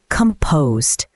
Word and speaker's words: composed: If you stay calm and in control in stressful situations, you're composed. Pronunciation tip: The stress is on the second syllable.